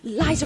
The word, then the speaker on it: Liza: Oh, it's Liza with a Z, not Lisa with an S, cause Lisa with an S goes snuds.